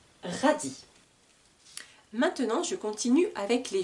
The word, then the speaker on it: radis: radis un radis un radis radis s'écrit avec un s à la fin du mot qui est muet on n'entend pas le S 1 radis maintenant je continue avec